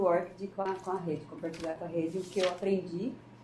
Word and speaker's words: ORCID: Então, a pronúncia correta, pelo que eu vi nos vídeos que eu aprendi com a Sueli, é ORCID. Vamos imaginar que tem um acento aí no O.